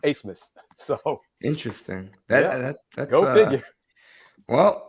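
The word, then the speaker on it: Abmas: spelled a b m a s but it's pronounced asmus so interesting go figure well I I might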